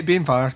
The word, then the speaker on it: Banefyre: I'm pronouncing sad that for right. the witches. Banefyre. Yeah, Banefyre.